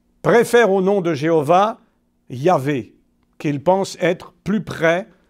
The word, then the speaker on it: Yahvé: Même si d'ailleurs la plupart des hébraïsants d'aujourd'hui préfèrent au nom de Jéhovah Yahvé, qu'ils pensent être plus près de la vraie prononciation du nom.